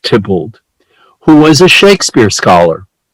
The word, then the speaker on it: Theobald: is a guy named John Theobald, pronounced Tybalt, who was a Shakespeare